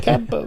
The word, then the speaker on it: Quimper: I've got a VW camper van in my list. When we were driving down the place in France, there's a place in Brittany called Camper, but it's spelt Quimper. It's pronounced Camper.